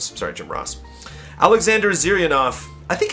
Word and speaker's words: Jim Ross: Jim Ross, not Jim Rose. Sorry, Jim Ross.